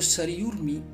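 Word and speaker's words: सरयूर्मि: जिस भी वर्ण के ऊपर रे लगा हुआ है वह रे ध्वनि जिस वर्ण पर लगी है ना उस वर्ण से पहले बोली जाती है, तो सरयूर्मी ये उच्चारण होगा इसका। वैसे उर्मी जो होती है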